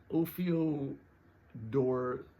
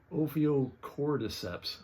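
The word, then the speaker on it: Ophiocordyceps: really really icky uh the ofio door it's pronounced opio cord deeps fungus infects a bullet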